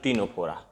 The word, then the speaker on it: Ctenophora: संघ टीनोफोरा। संघ टीनोफोरा, ठीक है, या इसी को इंग्लिश में बोलेंगे फाइलम टीनोफोरा। टीनोफोरा की स्पेलिंग है CTENO, CTENOPHORA, संघ टीनोफोरा।